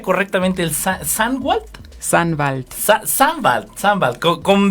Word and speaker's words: Sannwald: ¿Cómo pronuncia correctamente el Sandwald? Sandwald.